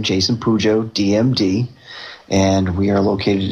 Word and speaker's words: Pujo: And the last name is spelled P as in Peter, U-J-O, Pujo. So it's an Albanian last name.